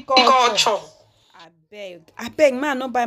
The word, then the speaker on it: Couture: It's Couture, Abby. If I want to pronounce it like Nigerian English, I'll say Juicy Couture.